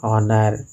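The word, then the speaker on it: honour: उसी तरह एन ऑनर, यहाँ एच साइलेंट लेटर है, एन ऑनरेबल मैन, N x ray.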